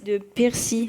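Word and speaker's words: Piercy: livre de Percy, ça s'écrit P-I-E-R-C-Y.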